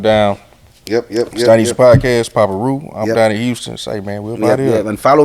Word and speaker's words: Papa Reu: you know what I'm saying that's how you spell it y'all see it it's going down yep yep Chinese podcast Papa Roo I'm down in Houston follow me on p-a-p-a-r-e-u